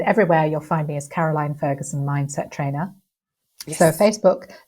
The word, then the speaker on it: Caroline: did get that right I was GNA say your name wrongly Carolyn Ferguson that would be Caroline Ferguson if people would like